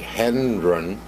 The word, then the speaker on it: Hendren: I want to pronounce this right, Hendren.